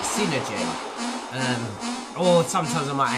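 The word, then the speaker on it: Psynergy: what they're doing now a lot of people may pronounce this as synergy or psy energy and i will actually pronounce it synergy um or sometimes i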